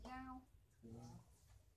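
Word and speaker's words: 幺: Nhớ là số 1 nó đọc là giao chứ không đọc là y nữa trong điện thoại.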